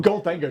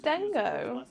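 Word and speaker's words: Gholdengo: goldang golden golden go we could be pronouncing wrong but gold Dango just looks right gold Dango gold Dango X right people call it dingo yeah nobody call it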